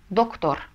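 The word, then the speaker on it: doctor: доктор мы произнесем Как доктор Почему Потому что последняя буква этого слова R это у нас согласная это N и не с соответственно мы голосом ставим ударение на последний слог доктор то же самое с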